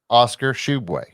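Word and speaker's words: Oscar Tshiebwe: with them that had considered kentucky yes yes oscar shubway and that's how you pronounce his name and and but you know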